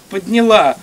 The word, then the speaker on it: подняла: 7 ноября 1917 года партия коммунистов во главе с Владимиром Лениным подняла с ударением на последний слог, дети еще не очень,